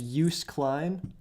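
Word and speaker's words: Joost Klein: said his name is Yus Klein yeah it's spelled like juice it's like j o o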